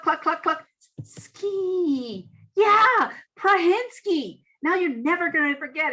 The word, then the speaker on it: Prahinski: the best way possible dr carol prahinsky you speak with phonics carol prahensky no not phonics well i get you